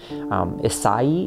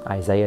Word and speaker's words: Isai: Isai is how you would pronounce that, but it's just Isai is just kind of what he's called, and it sounds like it's this thing that it's not.